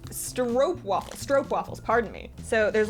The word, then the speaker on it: stroopwafels: Oh, these are stroopwafels, which I promised I would try. Oh, pronounced stroopwafels, pardon me.